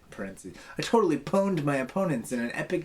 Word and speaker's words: pwn: one's just bad the pone P WN no vowels pwn n to dominate or defeat PR pronounced like own paren I totally pawned my opponents in an